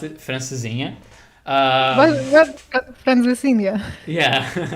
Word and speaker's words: Francesinha: So, yeah, you pronounce it Francesinha.